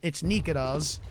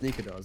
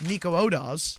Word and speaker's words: Nikodas: thought that's how it was pronounced, and it's Nikodas. It's Nikodas, yeah. People were like Nico Odas. Yeah, that's no, not, yeah. no. It's just that's not how you say it.